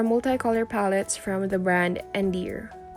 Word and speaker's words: Endear: And these are multicolor palettes from the brand Endear. Yes, I typed it correctly. Yes, that's how you pronounce the brand.